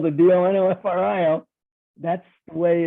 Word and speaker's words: Donofrio: our life has always been d-o-n-o-f-r-i-l and it's pronounced Donna Frio is that correct well D'Onofrio Donna Frio but technically uh D'Onofrio okay yeah